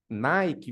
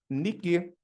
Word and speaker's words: Nike: de tênis mais famosa Nike é a nossa pronúncia americana Nike vem de nique nique é a deusa grega da Vitória tudo relacionado nical tudo